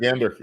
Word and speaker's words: Michigander: And we have a special guest today, which is our good friend Roger Burnett and another Michigander, right? Did I pronounce that right? Michigander? Michigander, absolutely.